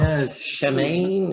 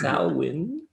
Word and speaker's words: Samhain: Samhain, Samhain, it's not Shemaine, it's Samhain.